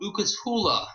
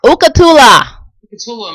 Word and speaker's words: Ukatula: But the first song she's going to play is called Ukatula. Ukatula.